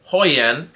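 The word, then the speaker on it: Højlund: If you look at the other names that Maldini is supposedly interested in, it's Atalanta's Hoyan. And other than the two having J's pronounced as H's, if you look at it, they have that battering ram, almost Diego Costa style.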